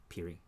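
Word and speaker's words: Peerie: have some brooklyn tweed we say it wrong all the time it's piri piri piri in your stash you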